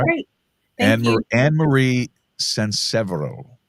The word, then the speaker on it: SanSevero: Annmarie SanSevero. SanSevero, but it's okay.